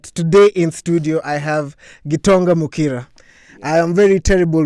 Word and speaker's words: Gitonga: day in Kwale, and they pronounce Gitonga as Gitonga. Gitonga. And you know, in Swahili we say G. When you start with G, it means GT likubwa, G2 likubwa. So I take that name